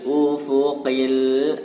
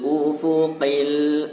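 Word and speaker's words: أُفُقِ: Wa huwa bil ufuqil a'la. Wa huwa bil ufuqi. Qai, huruf qaf harus jelas. Qai. Ufuqi, bukan ufuqi, tapi ufuqi.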